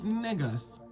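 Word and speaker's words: negus: So when the white people call us they're saying it wrong. It's nigers, n e g u s.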